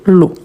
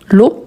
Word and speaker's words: l'eau: Tout d'abord qu'on a les mots O qui se répètent partout, vous voyez que c'est ensemble a + u et e a u. On lui prononce o.